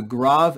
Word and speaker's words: grave: The second accent mark is called the grav, grav. Don't pronounce this as grave, it's grav. And this basically means a flat or falling pitch.